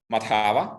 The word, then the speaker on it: Madhava: But I think it's Madhava. I think it's on the second syllable.